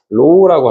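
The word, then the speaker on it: ρ: 또 하나 재질에 해당되는 거 로우라고 합니다. 다시 뭐라고 해요?로 RHO 다시 뭐라고 해요? RHO로 읽는 값으로 얘는 뭐라고 읽는다고?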